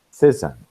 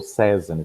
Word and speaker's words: Cézanne: E o que nós temos com Cézanne, ou Cézanne, tá? A pronúncia, ela fica livre.